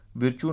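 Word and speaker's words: Virchow: These are called as विरकुस node. विरचू node भी कुछ लोग प्रोनाउंस करते हैं, कुछ लोग विरकू पढ़ते हैं, सो दिस इज़ विरकू नोड।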